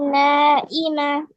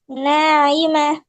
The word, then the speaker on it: ناعمة: وجوه يومئذ نائمة. নাইমা, ناعمة. নাইমা। نائمة. ইমা না তো, আইন। আইন উচ্চারণ করতে হয় কিভাবে? হলক অথবা কণ্ঠনালীর মাঝখান থেকে, বুঝছো? কণ্ঠনালীর মাঝখান থেকে আইন উচ্চারণ করতে হয়।